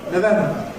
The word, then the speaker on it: November: Certain months equally show variable weakening in the first syllable. We can say ‘November’ or we can say . We can say ‘September’ with /sep/ or we can weakening it to /səp/ or /sɪp/.